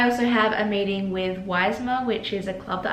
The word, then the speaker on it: YSMHA: have a meeting with weisma which is a club that I've joined this semester it's ysmha but it's they pronounce it like y smile and it stands for